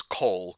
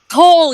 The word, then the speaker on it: Cole: No, her name was Cole. Kole. Oh. Cole, yes. I knew it was one syllable.